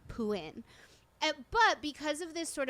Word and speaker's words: Phuwin: it's spelled in Thai there's a t and a silent r at the end of his name um but because of